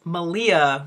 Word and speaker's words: Malia: memory at all oh it's Malia rhymes with Maria totally forgetting the name